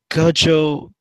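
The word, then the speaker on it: Gojowczyk: I believe it's Peter Gajowczyk. Is that how you pronounce it?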